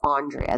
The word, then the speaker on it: Andreea: Audrey Audrey at Andreea it's Andreea they spell it weird Andreea Crawford he said